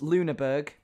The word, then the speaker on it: Lüneburg: Roblox tower that, while googling the pronunciation of its location, I found it actually might be, if it's the right one, a real church in real life. This is St. Johannis Lüneburg, bracket, free bell ringing, bracket. Yes, got the pronunciation right.